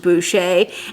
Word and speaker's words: Boucher: is really high quality now boucher looks like voucher but it is actually pronounced boucher and i'm so glad